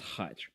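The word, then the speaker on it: хач: So, the Russian language has a word that is pronounced as khach, and that is a catch-all derogatory term for ethnicities that originate in the Caucasus Mountains.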